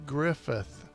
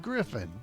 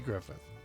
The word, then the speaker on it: Griffith: of the show is the andy griffith show not griffin it's not merv griffin it's andy griffith all right number two